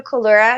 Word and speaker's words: Collura: me so hello everyone my name is colura and Katherine an you did great on the pronunciation um I I am um a productivity